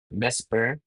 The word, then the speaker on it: VSEPR: So binibigkas namin siya as Vesper theory. VSEPR, Vesper theory.